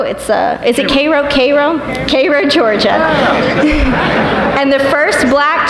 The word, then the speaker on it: Cairo: Also breaking a color barrier as the first black physician to open a practice in her hometown of, it's not pronounced Cairo, is it Cairo? Cairo, Georgia.